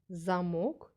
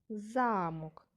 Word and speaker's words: замок: які зображені на малюнку замок і замок ці слова мають однакові звуки але вимовляються по-різному давайте вимовимо слова по